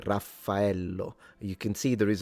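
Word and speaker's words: Raffaello: I mean, of course, but uh yeah, and we spell it so dear Zam the wolf in Italian, it's spelled with two F and two L.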